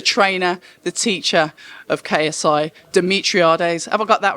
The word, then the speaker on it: Demetriades: Demetriades. Demetriades. Wasn't. October Red Boxing here with the coach, the trainer, the teacher of KSI, Demetriades.